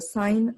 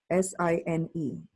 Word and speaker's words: sine: function is called the sine function si n e as a shortcut we write si n so please do not pronounce it as sin its sine sine of an angle